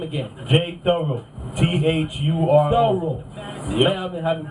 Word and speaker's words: Thuro: Thorough. Yep. Man, I've been having problems pronouncing it.